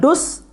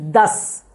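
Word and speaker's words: दस: It's not dus, it is das.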